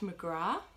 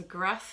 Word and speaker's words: McGrath: It's pronounced McGrath in America, but McGrath is actually the correct pronunciation of that last name, by the way. But McGrath, he is American, but his ancestors still pronounce it McGrath, and he's investigating the